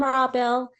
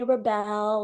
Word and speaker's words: Rabel: Hi, I'm Rabel. You're actually Hi. one of the first people that have pronounced my name right. Oh, People usually call me Rebel, or they shorten my name to or something like that.